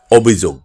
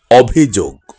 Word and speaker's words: অভিযোগ: ফুল সঠিক উচ্চারণ অভিযোগ আমরা অনেকে কেই ভুল উচ্চারণ করে বলি অভিযোগ না এখন থেকে সঠিক উচ্চারণটি করবো অভিযোগ সঠিক উচ্চারণ ভিতরে আমরা